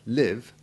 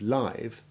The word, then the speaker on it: live: sound similarly identical in spelling but with different pronunciations are as you have just heard in the description of the prince the verb live which has the short i1 sound despite the